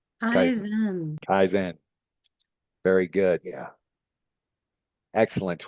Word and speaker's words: Kaizen: Did I get the pronunciation right? Kaizen.